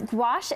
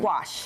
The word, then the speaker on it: gouache: Yes, gouache is a really big trend, and it's been really fun. Gouache.